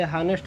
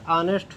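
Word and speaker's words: honest: अच्छा, अक्सर बच्चे गलती कर जाते हैं, इसे हानेस्ट पढ़ देते हैं, तो हानेस्ट नहीं होता है, ऑनेस्ट होता है।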